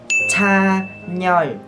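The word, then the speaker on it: 찬열: Tên này các bạn chỉ cần đọc là Chan Yeol.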